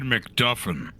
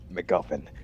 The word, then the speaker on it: McGuffin: delgar likes to say I said mcduffin McGuffin you're still saying it wrong anyways your blood most